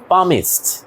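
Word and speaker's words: palmist: পৃথিবীর অন্যতম নামকরা একজন মনোবিজ্ঞানীকে সিগনালফ তাহলে মনোবিজ্ঞানী ইংরেজি কি সাইকোলজিস্ট এখানে আরেকটা ওয়ার্ড আছে ইন্টারেস্টিং ওয়ার্ড এটা একটু দেখো পামিস্ট এখানে এলটা উচ্চারণ হবে না তোমরা কি পাম মানে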